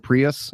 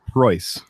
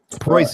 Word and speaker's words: Preuss: the Toyota Prius, and a lot of people pronounce my name Prius, but it's it's Preuss. Preuss as in Prussia.